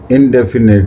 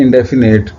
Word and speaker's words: indefinite: बल्कि आई है, और इसे हमने इंडेफिनेट प्रोनाउंस नहीं करना, ये है इंडेफिनिट, राइट।